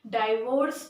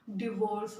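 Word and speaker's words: divorce: और इसका pronunciation डाइवोर्स नहीं होता, डिवोर्स होता है, राइट।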